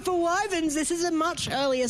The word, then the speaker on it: Wyvern: Wyvern, how's it pronounced?